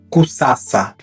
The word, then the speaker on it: Kusasa: Temos a letra S, que é C em Quimbundo, e ela é sempre S, nunca Z. Exemplo, Kusasa, Kusasa, criar, ou Kususa, Kususa, que quer dizer urinar.